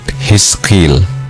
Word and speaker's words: Hizqil: Dialah Nabi Yehil atau dalam pelafalan bahasa Arab disebut Hiskil.